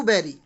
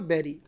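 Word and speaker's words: bury: लिखा हुआ है फैमिली वेटिंग टू बेरी। सबसे पहले तो हमें एक वर्ड मिल जाता है यहाँ पर बेरी। गैस, इसको पढ़ना है बेरी, इसको बरी मत पढ़ना, वो गलत प्रोनाउंसिएशन है, वो रॉन्ग प्रोनाउंसिएशन है।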